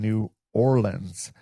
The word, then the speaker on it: New Orleans: You're down in New Orleans. Uh, did I pronounce New Orleans right or is it New Orleans?